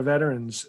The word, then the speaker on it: veterans: You see, this is why you're disrespecting our veterans. There's an extra syllable in there, and you're trying to shorten the word.